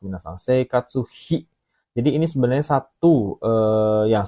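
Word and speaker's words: 生活費: Seikatsu hi. Jadi ini sebenarnya satu yang sering digunakan sepaket lah ya. Alah, kenapa ini jadinya? Teman-teman, seikatsu hi ya.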